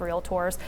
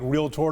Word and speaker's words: realtor: Greater Tyler Association of realtorss and then you want to go on and and thank you for saying it right realtor not realtor makes my flesh crawl go ahead Realtors goad